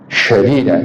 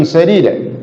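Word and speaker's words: سديدا: Jangan salah bacanya, jangan wa qulu syadida, salah. Wa qulu qawlan sadida, ucapkan oleh kalian qawlan, ucapan, pembicaraan, omongan, sadid ay bima'na al-khair, ucapan yang baik.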